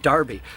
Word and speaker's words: Rufty: a legal thing, so they changed the spelling of their name from Darby to Rufty, but pronounced it Darby.